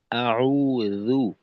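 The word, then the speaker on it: أعوذ: আচ্ছা আব্দুর রাজ্জাক ভাই জালের উচ্চারণ কিন্তু অনেক সময় মাখরাজ থেকে ছুটে যায়। যেমন এখনো জালের উচ্চারণটা জু হয়ে গেল। এটা হল জাল। জ আউজু আউজু এরকম আর আউজুবিল্লাহি মিনাশ শাইতানির রাজীম।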